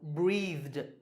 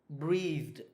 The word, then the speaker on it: breathed: Well, the last sound is the, because the word is breathe, breathe. So the last sound is the, and the is voiced, so it's pronounced d. So breathed, breathed.